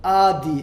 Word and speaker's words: Adi: Então, Adi, a primeira sílaba é o A sozinho, é longo porque o A é um A longo. Di é uma sílaba curta, porque o I é curto, não tem nada que faça ela ser longa depois.